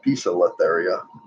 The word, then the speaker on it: Poecilotheria: And although pokies have been called pokies forever, according to Tom Moran, they are now Poecilotheria.